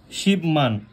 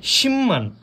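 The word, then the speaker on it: 십만: মান আর হ্যাঁ এখানে এখানে একটা লক্ষণীয় বিষয় আমরা যদি শিব মান উচ্চারিত করি এটা সম্পূর্ণরূপে ভুল হবে কারণ বিয়োপের পরে যদি নিয়ম থাকে বিয়োপটা মিয়ম উচ্চারিত হয় তাহলে এক্ষেত্রে আমাদের উচ্চারণ হবে শিম্মান ঠিক আছে ভাই শিম্মান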